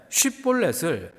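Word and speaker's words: שיבולת: 큰 물이라는 뜻의 쉿볼렛을 에브라임 사람들은 십볼렛이라고 발음했습니다.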